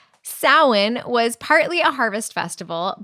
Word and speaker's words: Samhain: [cough and clears throat] Halloween or sin is an ancient Celtic tradition. Wait, wait. Sin? Yes, that's how it's pronounced. Not Sam Hayne.